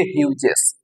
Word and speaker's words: Hughes: উচ্চারণটা ঠিক রাখবে। টেড হিউজেস।